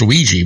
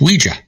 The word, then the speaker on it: Ouija: we only yes I I've always heard it pronounced Ouiji but it's Ouija huh I guess did you know that Muhammad